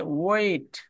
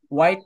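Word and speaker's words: wait: ওয়েট, এই ওয়েটের টিটা, ওয়েট, টিটা যখন ব্রিটিশ অথবা আমেরিকানরা যখন বলে, নেটিভরা আর কি, ওয়েট নেটিভরা, ওয়েট। তখন তারা টিটাকে ডি বলে, ডি উচ্চারণ করে, অধিকাংশই ডি।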